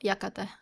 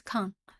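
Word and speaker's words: 館: famous okay Library no yakata come on it's Khan we go it should be that one okay so I'll explain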